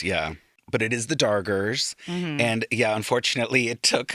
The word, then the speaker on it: Dargers: d a r g e r s Not the Doggers, the Dargers.